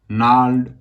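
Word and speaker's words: gnarled: तो इसके सिनोनिम्स होंगे स्टबर्न, ओबड्यूरेट, मूलिश, कॉन्टेमेशियस, रिजोल्यूट, ओब्स्टिनेट, डोज्ड, नाल्ड। इसमें जी साइलेंट होता है।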